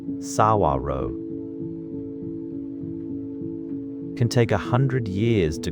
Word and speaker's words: saguaro: A tall cactus called the saguaro. You say it like saguaro. You say it like saguaro.